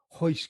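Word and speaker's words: Royce: Yeah, the H is the correct way to pronounce it in Portuguese, but then there's actually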